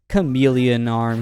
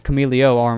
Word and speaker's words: Cameleo Arm: So now it's time for Chameleon Arm here. Actually, it's Cameleo Arm, I believe. I think I've been saying it wrong this entire time.